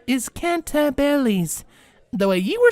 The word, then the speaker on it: Cantabile: This word isn't said the way it's spelled. Its proper pronunciation is Cantabiles.